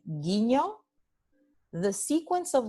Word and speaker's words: guiño: Cuando GU viene seguido de E o de I, so when you have the sequence of letters GUE or GUI, okay, the GU represents just the sound G.